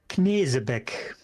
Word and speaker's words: Knesebeck: And then for my Knezbeck, however it's supposed to be pronounced, just clip Actually, that it's subkill. actually in German it sounds like Knesebeck.